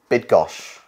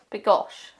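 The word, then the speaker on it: Bydgoszcz: would just um the the why would be more like an I so bid bid gosh I I according to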